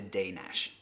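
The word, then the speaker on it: Dénes: D N S but the first e on it has an accent on it which gives like an a sound and the S on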